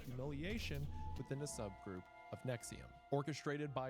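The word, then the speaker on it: Nxivm: podcast called Allison After Nexium. Although you would never guess Nexium's pronounced that way if you look at it.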